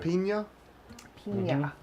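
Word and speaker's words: Piña: that's so good man it's pronounced Pina Pina it's got the little squiggly line above the end yeah hey let's keep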